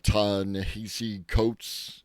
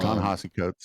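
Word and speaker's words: Ta-Nehisi Coates: It was brought by Sarah Silverman and it was brought by um I'm pronounced their name wrong, but uh Tanahesi Coats. Um Tanahasi Coats.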